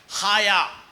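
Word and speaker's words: חָיָה: பிழைப்போம் அப்படிங்கறதுக்கு எபரேய வார்த்தை ஹயா ஹயா ஹயால்ல ஹயா ஆமா சொல்லுங்க ஆயா இல்ல ஹயாவும் இல்ல ஹயா ஹயா ஆமா அந்த எபரய வார்த்தை பாருங்க ரொம்ப கேஹஏடபள்யூஹு இருக்குது அதனுடைய உச்சரிப்பு என்னன்னா ஹயா சொல்லுங்க ஹயானா என்ன அர்த்தம்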